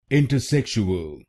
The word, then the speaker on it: intersexual: Its correct pronunciation is intersexual. Intersexual. This word has five syllables: in t se shu in t se shukl intersexual, and in this word, you have to stress the third syllable .